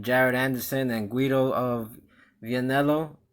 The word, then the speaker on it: Vianello: We have some heavyweight action with Jared Anderson and Guido of Vianello. I believe that's how you pronounce his last. Yeah, Vianello. Yeah.